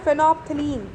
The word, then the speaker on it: phenolphthalein: Now यहाँ पे phenolphthalein, इसको क्या पढ़ते हैं, phenolphthalein पढ़ते हैं। कुछ बच्चे बहुत कंफ्यूज हो जाते हैं, तो आप लोग प्रैक्टिस भी कर लीजिए। करेक्ट प्रोनाउंसिएशन है phenolphthalein, ठीक है।